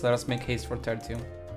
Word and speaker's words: Tertium: Let us make haste for Tertium. Technically, it's Latin. So, it it would be terium. I'm pretty sure that is the correct pronunciation.